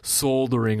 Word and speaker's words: soldering: Well, according to all the non- US listeners, it's also called a soldering iron. You don't pronounce the L.